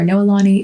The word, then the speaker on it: Noelani: So my middle name is Noelani, or Noelani is how you would pronounce it.